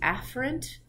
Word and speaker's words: afferent: how you say it it's supposed to be afferent but if I say afferent and efferent on a video he won't picked up on the subtle difference in the pronunciation so I'm going to